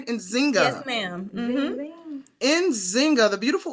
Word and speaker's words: Nzinga: me get started here with inzinga am I pronouncing your name right inzinga yes ma'am inzinga the beautiful inzinga who plays